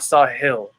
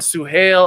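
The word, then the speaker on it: Suhail: gonna do guys is we're gonna start spelling my name right because i'm not sahil okay i've gone sue hail i've gotten sahil we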